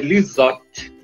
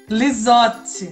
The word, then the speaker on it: Lizotte: Se estivermos falando da origem italiana, é Lizotte. Lizotte.